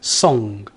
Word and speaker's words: song: It's a very, very soft N, I guess is the best way for me to describe it to you. Try saying the word song. Song. Song. We don't pronounce a hard N there.